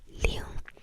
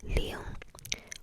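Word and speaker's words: 零: 0, 0, 0, 0, which is ling, ling, ling, ling, ling, or L-I-N-G, G, L-I-N-G, L-I-N-G, L-I-N-G, ling, ling, ling, ling.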